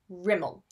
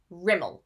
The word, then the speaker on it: Rimmel: This would be Rimmel, Rimmel, with the stress on the first syllable, Rimmel.